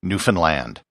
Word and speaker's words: Newfoundland: And as for the pronunciation, I just remember the rhyme that was told to me on the ferry as I came over from Nova Scotia. Understand Newfoundland.